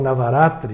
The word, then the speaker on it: Navratri: mês védico de Ashvina, no Navratri, ou Navaratri, né, aportuguesando a pronúncia, em que se comemora